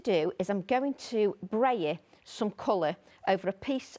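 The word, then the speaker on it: brayer: Is it no coincidence that it rhymes with layer? Is it like layer? Is it different? Yeah, is it spelt like that? B-R-A-Y-E-R? B-R-A-Y-E-R. Yeah, it must be like layer, braille.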